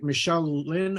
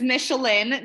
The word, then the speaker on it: Michelin: Now, do you go by Michelle Lynn or Michelle? So it's Michelin, just like the Michelin.